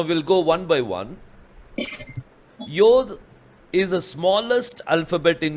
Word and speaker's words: yod: the first letter Yad nowadays they pronounce it as yod in the ancient Hebrew they were pronounciating as Yad Yad means hand but nowadays see the pronunciation changes so now they pronounce it as yod and some people have they have started pronouncing it as yud also why yud so